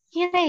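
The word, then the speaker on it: きれい: Jadi kenapa kire ini surprisingly masuk di kata sifat nak? Karena begitu dilafalkan, begitu diucapkan dia kire, bukan kirei, kire. Makanya i-nya seakan-akan hilang kan?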